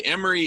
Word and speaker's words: Imre: And by the way, Emery, it's actually pronounced Emery. IMRE.